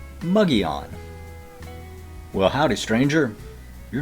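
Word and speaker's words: Mogollon: My favorite one here in Arizona is pronouncing Muggy-on.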